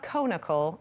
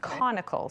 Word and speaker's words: conical: It's like the adjective like related to the word cone. So it's not conical, it's conical. So if you picture a cone.